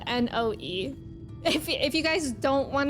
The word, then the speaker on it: Noe: Noe is spelled N-O-E.